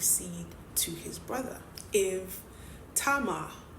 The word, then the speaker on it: Tamar: If Tamar, I'm pronouncing it the Hebrew way, I know you guys pronounce it as Tamar, but let's keep going.